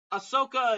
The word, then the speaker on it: Ahsoka: his real name BB stop that's the correct pronunciation fine BB stop so Ahsoka it good A lot of people have recently